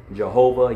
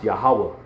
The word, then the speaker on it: Yahawah: his name is pronounced yahawah that's how it was pronounced by the ancient Israelites that's how it was